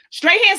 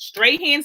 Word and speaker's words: Strahan: Strahan, Sarah, and Kiki show. That's how you say it. Strahan, Sarah, and Kiki.